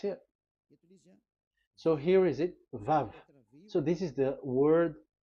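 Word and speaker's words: ו: So it's V as in Vogue. So it's really V. How to read Vogue? So the word, the shape Vav is really pronounced V, like Vogue. That is it, pronunciation. So here in this side, it's pronunciation. This is pronunciation. So according to the old Hebrew word today, those who the owner of the words, I mean, so it's a V. So don't change it into W, and you will say that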